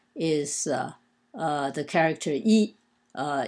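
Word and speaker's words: 衣: six Strokes and uh is pronounced e in the first tone e and uh it usually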